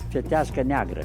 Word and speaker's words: Fetească neagră: Fetească neagră. Yes, exactly. That's what I was going to say. Yeah, Fetească neagră.